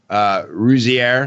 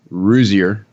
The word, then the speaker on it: Rouzier: race relations and rusy air i'm saying it wrong it's still rosier started this re/this